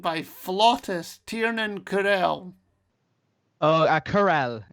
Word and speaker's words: Carell: Oh, Carell, it's pronounced.